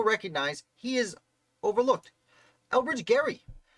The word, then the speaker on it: Gerry: he is overlooked elbridge gary they call gerrymandering they mispronounce his name in uh in by giving him credit for something he really